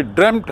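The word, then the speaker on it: dreamt: ये actually ड्रेम्ट है उच्चारण, ड्रीम से बना है।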